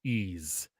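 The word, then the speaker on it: Ys: Like, I think it's pronounced Ease, Lemmings? by the way. No, Oh. Wanderers from Ease.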